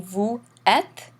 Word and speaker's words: vous êtes: You'll notice again, instead of reading vous êtes, in the French they run this together in something called the liaison. It makes the sound like the English Z.